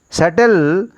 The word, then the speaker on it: subtle: Subtle is a right pronunciation. B is a subtle is a wrong pronunciation.